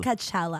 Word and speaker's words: Coachella: Coachella. How do you say it? It's Coachella.